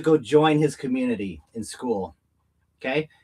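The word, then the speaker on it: Skool: So, it's just school. It's spelled S as in Sam, K as in Kevin, O L.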